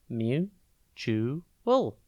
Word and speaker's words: mutual: It's pronounced mu-chu-ul, and it is spelt M-U-T-U-A-L.